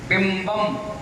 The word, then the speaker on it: बिंबम: बिंबम, अब इसमें वा का उच्चारण नहीं है, बा का है, तो बिंबम बोलो, बिंबम। कलंक बोलो, कलंक।